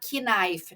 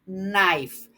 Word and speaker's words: knife: E notem aqui, gente, que essa palavra knife, ela começa com aquele K ali, mas o K é mudo, a gente não pronuncia. Tem muita gente aí que fala knife, né, gente? Não tá certo isso. O K aqui é silencioso, mudo. Então, eu digo knife.